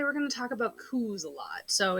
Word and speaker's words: coup: right so today we're going to talk about coups a lot so it's spelled c-u-c-o-u-p uh but it's pronounced coup and